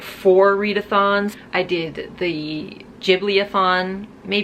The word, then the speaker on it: Ghibli: readathons I did the Ghibli upon May you guys say ghibli but in japan it's pronounced Djibouti and I live in Japan so I know what I'm talking about okay it's Ghibli I did the Litha